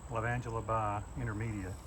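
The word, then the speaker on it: Lavandula × intermedia: a hybrid like a cross between so it's pronounced by love angela by intermedia phenomenal and it's called phenomenal because it is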